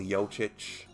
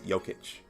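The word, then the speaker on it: Jokić: the the range um nikola yochich yoketch i keep mispronouncing that um it's jokic uh scored 16.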